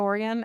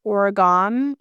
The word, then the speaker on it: Oregon: Coast to know that if you call it Oregon, you're fucking crazy. That's how you say it. Oregon? Yeah, or the place of the oregano. Oregano? A lot of people say it that way. Yeah, you were freakishly close.